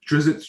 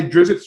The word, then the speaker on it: Drizzt: Oh yeah, tell me about it, because in my upcoming book coming out in December, Drizzt's Travelogue of Everything. I'm mispronouncing Drizzt.